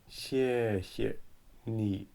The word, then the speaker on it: 谢谢: So here you can see that the fourth tone start high and then going down. 谢谢 neutral tone, light and short.